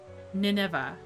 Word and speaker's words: Nineveh: How do I pronounce this? Oops. Oh, Wikipedia. Nineveh.